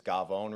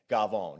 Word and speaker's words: cafone: this guy called the Cafone, which in Italian culture, it's Gavone, really, is how you pronounce it. Gavone, yeah.